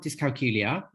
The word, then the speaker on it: dyscalculia: so um I have dyscalculia um you know which rhymes with Julia um and um I was diagnosed when I was 10.